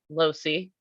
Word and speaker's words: Loase: my name is losey um opposite of high C Losi that's how I pronounce my last name um because I'm a